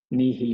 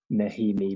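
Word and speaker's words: Nehe: Nihi Milner-Skudder. Johnny, not Nahimi Milner-Skudder.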